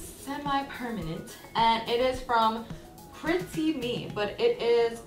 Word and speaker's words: PrettieMe: actually and it's semi-permanent and it is from Chrissy me but it is spelled PR et Cie and then me the